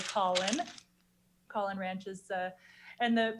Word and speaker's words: Coughlin: Coughlin Ranch, again, people often mispronounce this. They call it Coughlin Ranch, but it's really Coughlin.